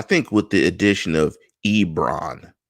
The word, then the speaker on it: Ebron: with the addition of Ebron not Enron Ebron as I'm getting ripped every week in the comments about my pronunciation of the Titans name II they must be